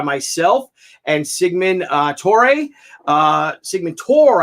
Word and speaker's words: Torre: Sigmund Tor. I think he pronounces it Tor.